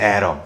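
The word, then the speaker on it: atom: 아톰, 에럼이라고 부르거든. 아톰, 영어로는 에럼. 발음 잘한다.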